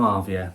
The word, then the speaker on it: Arvia: synopsis concludes the complimentary dining offerings onboard piano arvia that's how you say it and now we're